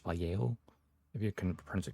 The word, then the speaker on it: Vallejo: know I know it's written valo but it's pronounced valo if you can pronce it correctly apparently okay